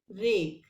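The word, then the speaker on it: rake: आर ए के ई रेक. इन words में आपने क्या नोटिस करना है कि ए की साउंड के साथ ई साइलेंट लगने के बाद यहाँ पर इसकी साउंड हो गई ए.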